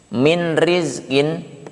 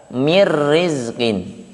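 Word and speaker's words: مِن رِزْق: Min rizkin dibaca mir rizkin, gitu ya.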